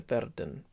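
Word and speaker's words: werden: and you can just flip the r in verden so not a ver than just a verdan it's a useful thing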